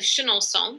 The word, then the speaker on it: Chenonceau: Shannon that block comes from the Chateau of Chenonceau which we pronounce with this should knowb song sound today but it might have been pronounces Shannon song when it was built and this is the